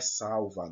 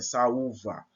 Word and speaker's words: saúva: Por exemplo, saúva. Aqui eu tenho 2 sons fortes. Saúva. Não é salva, não. É saúva. As duas são fortes.